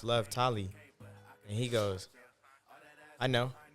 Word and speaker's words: Lovetoliii: hey you know like my name is pronounced love tally and he goes I